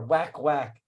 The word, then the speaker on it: wakwak: so it's pronounced but honestly you know again for my non-filipino uh speaking uh friends and family you know they're you know whack whack is also correct right yeah because it's